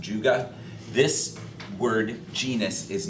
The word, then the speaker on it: Juga: It's a genus that we're going to see a lot of them, and it's pronounced Juga.